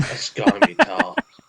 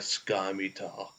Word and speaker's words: scimitar: No, I mean a scimitar. I believe you're mispronouncing that, my friend. Or a cutlass. Sky? So whenever you have an SCI in front of each other, Keith, it's going to be si.